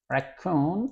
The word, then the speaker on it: raccoon: So pe bear fox raccoon. I have written the actually phonetic here as well. Raccoon. As you can see, the stress is on the second part of this word.